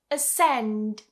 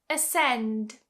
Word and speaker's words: ascend: If we take for example absess abess you see I don't pronounce the e here. Here are some other examples. Ascend. Ascend.